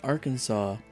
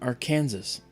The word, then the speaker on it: Arkansas: I said, "Claire, um why is it pronounced Arkansas and not our Kansas?"